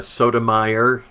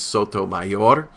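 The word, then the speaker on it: Sotomayor: the Supreme Court Judge Sonia Sodom they're calling her although the correct pronunciation is Soto mayor and we prayed in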